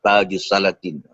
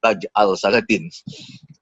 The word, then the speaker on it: Taj al-Salatin: Salat ini menarik juga kerana saya mendengar dalam beberapa seminar ada juga pakar teologi Melayu menyebut sebagai taj al salatin. Wahal kejaannya memang gitu tapi kita paham bahwa sebutannya betul tajus salatin ini artinya juga